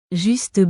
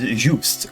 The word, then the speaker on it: Juste: As you would assume of a filthy American, I mispronounced his name for the duration of my playthrough, calling him Just or Justy, or well, anything in between. Looking into it, it most likely is Juste, coming from the French origin.